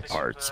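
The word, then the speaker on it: Pharts: This guy's name is Harry Farts. His name is Harry Parts. No, it's Harry Parts, but it's spelled P-H-A-R-T-Z. Everybody says Farts, but it's Parts.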